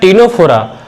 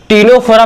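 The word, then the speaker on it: Ctenophora: क्या होना चाहिए, Porifera Coelenterata, Porifera Coelenterata, टीनोफोरा, Platyhelminthes. देखो टीनोफोरा में आप लोग बोलेंगे कि हम टीनोफोरा क्यों पढ़ रहे हैं, क्योंकि सी साइलेंट है बच्चों।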